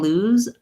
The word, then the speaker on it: lose: Watch for when I'm saying lose, you want to, that the consonant is going to be short and the vowel is going to be long, versus loose. Loose, you can hear I'm holding my S sound. You can really hear the noise of the S, versus lose. You want to either hear Z, the voice Z, or just I lose it. A very, very short consonant.